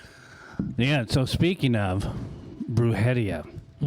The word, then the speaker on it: Brujeria: Then when Jerry had once told me about Bruhia, how long at least you could say it right. Most people are bruia.